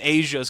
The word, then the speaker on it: Asya: And then the big he's beefy woman Asia's coming out. That's her name. Okay, It's okay, Asia. Okay, why? She's huge. Why this big, buff, white, blonde woman? Name Asia Asia.